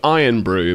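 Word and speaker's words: Irn-Bru: So, it's spelled it's it's called Iron Brew, but it's spelled I R N B R U.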